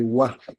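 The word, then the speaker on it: は: So, papalitan lang natin yung noun 1, tapos papalitan natin yung noun 2, pero meron pa rin ditong particle na ha, pero ang pronunciation nito ay wa.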